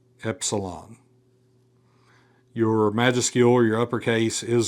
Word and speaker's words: epsilon: Epsilon. Your majuscule or your uppercase is going to look like our uppercase E. That is going to be a short E sound as in get, as in get.